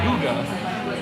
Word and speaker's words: hygge: Speaking of Christmas, Nick, you have a piece up, and I still cannot pronounce it. Is it Hygge? Hygge? Hoagie. It's Hygge.